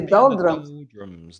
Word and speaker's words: doldrums: To be in the doldrums. The pronunciation is interesting because drum is something a musical instrument that you hit, and the pronunciation is doldrum. So the a becomes a it's a schwa sound.